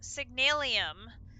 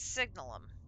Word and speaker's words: Signalum: So, this one I need the signalum which for years I've pronounced that word signalium. There is not an I in that word. It's signalum.